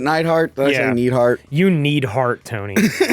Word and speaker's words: Neidhart: beat hulk hogan also i believe it's pronounced neidhart is it nightheart that's you need heart